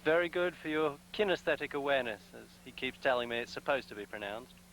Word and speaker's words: kinesthetic: This is part of what's called kinesthetic awareness. That's how it's supposed to be pronounced.